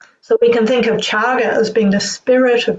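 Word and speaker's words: cāga: And the Buddha used a different word for this the word chaga. So chaga is written c a g a but the word c the letter c in pari is pronounced as ch.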